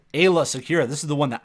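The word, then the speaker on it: Aayla Secura: Coming at number 8, Ayla Secura. This is the one that I mispronounced for the longest time. I used to call her Alia, and people used to get so mad. But Ayla Secura is I'm a Gundy with a better leadership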